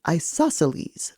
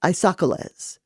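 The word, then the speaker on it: isosceles: you are correct but it's pronounced isoceles lady Sapphire not ises oh isoceles I repeated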